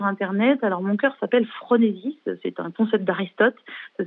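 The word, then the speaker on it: phronésis: les trouver sur internet alors mon cœur s'appelle fronésis c'est un concept d'Aristote ça s'écrit pH r o n e s y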